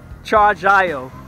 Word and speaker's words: Chargiot: We're doing the bomb, and the way you pronounce that, the T is silent, so it's Chargiot, the name of the company, Chargiot.